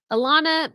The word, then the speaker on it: Alana: that's so sad wow Alana my name Alana gets spelled so many ways too Alana Alana Alana Elena I could go on it's pronounced to rhyme with banana Elena Alena Alena okay